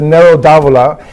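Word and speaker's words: Nero d'Avola: a little bit about each and how you pronounce it okay so the first one here is a red it's a it's a narrow davola and narrow say it again yes and it's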